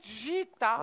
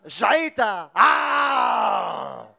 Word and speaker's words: جعيتا: من أهم طبيعة لبنان مغارة جيتا. جيتا. ما تقول العين يشو فيغير. كتير فيغير. في عين بالنص بدك تلفظيها. جعيتا.